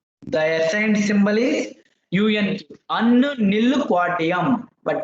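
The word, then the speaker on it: Unnilquadium: Unnu nil quadium. But pronunciation what you can say unnu nil quadium.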